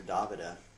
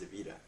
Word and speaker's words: Davida: i'm talking about davida everybody calls her davida but actually her name is pronounced devita uh i was with